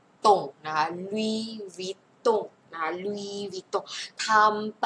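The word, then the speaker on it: Louis Vuitton: นะ คะ อัน นี้ ออก เสียง ว่า ลุย ไม่ ออก เสียง S นะ คะ ลุย วิด วิด ตง นะ คะ อัน นี้ เสียง โง ลุ ว ว ว ตง นะ คะ ลุย วิ ตง นะ คะ ลุว ตง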